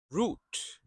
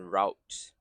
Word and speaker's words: route: Root. I like to pronounce this word as root rather than route.